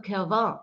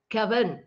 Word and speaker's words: Kervern: Also mir hat vor allen Dingen auch, ihr seht ja hier auch, ich habe auch geschrieben, Gérard Depardieu und Gustave Kervin. Also nee, Kerven, so heißt der.